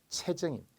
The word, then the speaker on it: 체증: 근데 간혹 체증을 체증 이런 분들이 있더라고요. 안 되고요. 모두 체증입니다.